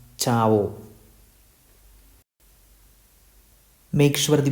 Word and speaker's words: ciao: It contains CIA, so this word is pronounced as Chao.